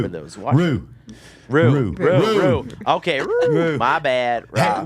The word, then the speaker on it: roux: The paste or rao is then added to the bread dough. Roux. For those watching. Roux.